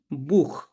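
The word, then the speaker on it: Buch: এই তিনটা লেটার থাকে তখন আপনাকে এটা খ এর মত উচ্চারণ করতে হবে যেমন উ সেহা কি আছে এখানে উ আছে তাহলে এটার উচ্চারণ কি করব খ দিয়ে উচ্চারণ করব যেমন বুখ বুক মানে হচ্ছে বই।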